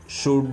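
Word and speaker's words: should: ஸோ அப்போ இந்த இடத்துல என்ன ஆயிருதுங்க, எல் சைலண்ட் ஆயிரும். ஸோ அப்போ இந்த இடத்துல நம்ம எப்படி சொல்லணும், ஷுட் அப்படின்னு சொல்லணும். நல்லா ஞாபகம் வச்சுக்கோங்க.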